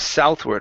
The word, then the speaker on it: southward: Instead of south, okay, it's ow.